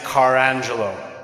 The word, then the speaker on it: Carangelo: So my last name is Carangelo. So, just car and the name Angela and put them together.